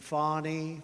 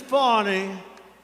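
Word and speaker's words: Fani: local attorney generals and fonnie fonnie you know fonnie spelled f a n i my name is fonnie f a ni I I don't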